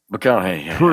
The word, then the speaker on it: McConaughey: McConaughey? McConaughey.